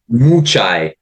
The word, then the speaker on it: Mucaj: Mucaj. Mu as in cow and chai tea. Mucaj. One of the letter is silent.